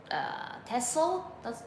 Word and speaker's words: TESOL: So like TESOL, that's how it's pronounced.